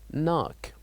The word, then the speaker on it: knock: the word knock knock so here the K is silent and we say knock knock and also the word